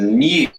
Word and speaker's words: new: In the word new, Brits will tend to pronounce a y sound here. New. But Americans don't. They've dropped the y.